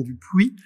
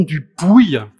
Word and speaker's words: Dupouy: au CMS de Toulouse pour ne plus dire Gaston Dupuis mais Gaston du Pouille comme on dit visiblement dans ces contrées lointaines étranges alors la prononciation est